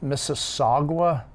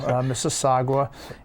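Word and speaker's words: Mississauga: lawyer call me okay apparently pronounce that mississagua okay silent W mississagua and then when you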